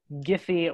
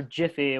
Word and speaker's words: Giphy: the champion of uh giphy or jiffy whichever you prefer in pronunciation uh but she's the